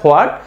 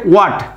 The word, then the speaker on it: what: বলে অবস্থ এটা হোয়াট, আসলে এখানে এই এইচটা উজ্জ্বল আছে, এটা হবে ওয়াট, এটা হবে কি ওয়াট, কিন্তু আমরা এই এইচটাকে সহ আমরা উচ্চারণ করি হোয়াট। এটা হোয়াট বলি, কিন্তু এটা হোয়াট হবে না, এটা কি হবে ওয়াট, ওয়াট।